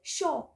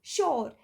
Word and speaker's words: sure: The American and Western people, they don't pronounce R in very, what we can say, very proper manner, we can say. They do not pronounce it as sure. They pronounce it shaw.